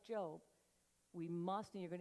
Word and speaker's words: Job: When I first got saved, J-O-B, how do you say it? Job. Hello? Nobody says, hey, I'm looking for a Job right now. No one says that. No one says, hey, did you get your Job yet?